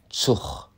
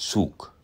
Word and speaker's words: Zug: hast du auch mitgekriegt, wie das G am Ende einer nicht wie K, sondern wie ein CH klingt und dabei wird der Vokal meist auch noch kurz ausgesprochen wie in Zuch statt Zug.